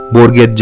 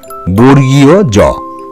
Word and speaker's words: বর্গীয় জ: সেটি হচ্ছে বর্গীয় জ এই বর্ণটিকেও কিন্তু অনেক সময় বিকৃতভাবে বর্গের জ বা অনেক কিছু বলা হয়ে থাকে তোমরা সেই উচ্চারণগুলি সম্পর্কে সতর্ক থাকবে সঠিক উচ্চারণটি তোমরা করবে বর্গীয় জ হয়েছে বর্গীয় জ এরপরে যে বর্ণটি